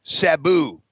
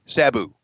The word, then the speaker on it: Sabu: match coming up against Sabu or Shimano like to say Sabu it's Sabu know how to pronounce it